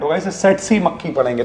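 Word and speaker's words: tsetse: देखिए यहां पे टी साइलेंट होगा। ऐसे सेट सी मक्खी पढ़ेंगे।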